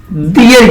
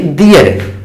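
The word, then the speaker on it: their: दियर यूज किया जाता है। प्रोनाउंसिएशन सही से करेंगे, दियर, इसको क्या पढ़ेंगे? दियर, देयर नहीं करेंगे।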